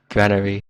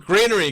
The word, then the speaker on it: Granary: green here Granary Greenery how do you pronounce it in Asia Granary yeah that's right cuz that's how it's pronounced America it's not Greenery God damn it